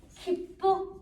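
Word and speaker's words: きっぷ: 첫 번째 글자 청음 KI. 읽으세요. 그냥 기쁘. 정리할까요? 기쁘. 이렇게 설명이 나와 있는 교재도 있어요. 앞에 액센트가 하면서 기쁘.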